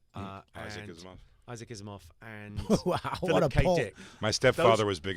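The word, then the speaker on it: Asimov: what's he called um isof uh is Isaac isof and my stepfather was big in the SciFi I never knew it was pronounced isof isof isof I don't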